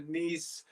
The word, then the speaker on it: Nice: Apparently on loan to Nice. That's how you pronounce it.